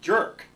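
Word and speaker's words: JIRC: And you pronounce that jerk, which certainly defines its purpose as reviewing jerk judges.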